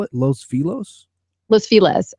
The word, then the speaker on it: Los Feliz: Los Feliz, which is actually Los Feliz. But for some reason in LA, nobody pronounces anything with the Spanish accent. It's LOS, like Los, and then Feliz, like happy, Feliz. But everybody calls it Los or Los Feliz, which is super weird.